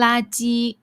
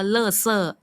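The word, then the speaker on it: 垃圾: การ จุด ๆ ๆ ลาจี นะ แปล ว่า ขยะ ทาง ไต้หวัน เนี่ย เขา จะ ออก เสียง คำ นี้ ว่า เล่อ เซ่อ นะ คะ เล่อ เซ่อ แล้ว ก็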